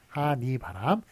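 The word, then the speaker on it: 하늬바람: 한이바람, 앞에 게 한의, 이런 식으로 발음은 물론 니라고 합니다만 한이바람, 그 앞에 게 맞고요.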